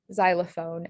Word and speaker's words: xylophone: Similarly, if you get the Z sound at the beginning of a Greek word, it can be spelled with an X.